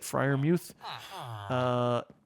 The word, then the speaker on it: Freiermuth: Freiermuth, who I learned from the broadcast, that's how he pronounces it, Freiermuth, should be a solid